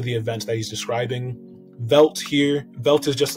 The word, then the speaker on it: veldt: found in africa and there's two spellings of velt he chose v-e-l-d-t as opposed to just v-e-l-d because he wanted to rhyme with pelt corpses are scattered through